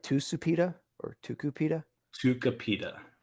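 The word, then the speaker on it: Tucupita: like two supita or tuku pita tuka pita tukapita that's not how it's spelled that's exactly how it's spelled t-u-t-u-c-u tuka pita p-i-t who's not pronounced ooh u is pronounced ooh tukupita tuka pita i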